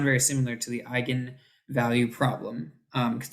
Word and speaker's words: eigenvalue: But it's pronounced like gun from your eye, like eye gun. Okay. Okay. Eigenvector, eigenvalue. Yeah. Okay. Anyway, just in case you're like, is that Egan? Egan? No, eigenvalue, eigenvector.